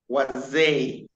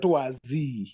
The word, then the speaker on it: waze: Yes, not wazi. He was trying to say Z. When we say A is pronounced as A, not Z. So it became A. So it is waze, as you've said it rightly.